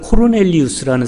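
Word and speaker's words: Cornelius: 본래 표현은 발음은 코르넬리우스라는 사람이에요.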